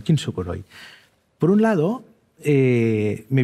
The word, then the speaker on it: kintsukuroi: es complicado es complicado Mira el japonés tiene una cosa que se pronuncia Exactamente igual que el español entonces kukuro kintsukuroi las letras el fonema es igual que en el español kintsukuroi por un lado eh